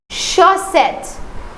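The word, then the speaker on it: chaussettes: Now this is double s. So it is sir not z but sir. So the pronunciation is shet.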